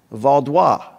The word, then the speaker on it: Vaudois: That's pronounced Vaudois, the Vaudois people, okay?